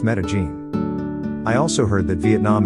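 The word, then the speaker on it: Medellín: If you visit Colombia, the place to go is Medellin, Colombia, which is pronounced Medellin.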